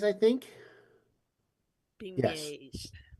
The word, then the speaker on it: beignets: Pronunciation time. Cafe Alette and Beignets, I think. Beignets. Yes. Beignets.